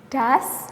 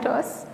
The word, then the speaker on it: does: Ini she does, bacanya does ya, bukan dos.